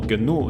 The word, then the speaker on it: GNU: hecho el proyecto gn pronunciado también New o genu en inglés es muy anterior a